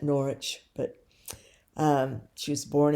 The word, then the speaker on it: Norwich: Um, chapter 32, Julian of Norwich or Nor I think Norwich. I think they don't pronounce the W too much in England on that. Norwich, but um, she was born in 1342 and died after 1416.